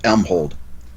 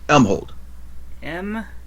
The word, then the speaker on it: Elmhold: Elmhold. Spell that for me. Elmhold. E-L-M... Like holding some elm. H-O-L-D. Elm Mhm. hold. Like holding an elm.